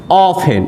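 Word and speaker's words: often: ऑफेन, इसको ऑफ्टेन मत पढ़िएगा, ऑफेन, टी क्या होता है, साइलेंट होता है, ऑफेन।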